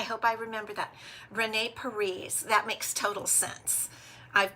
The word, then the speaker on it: Peres: even know if that's possible Oh Renee okay Peres perise thank you for correcting me I really do